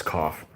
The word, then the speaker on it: coif: going to paint his coif i know it's cough i just i don't like to i don't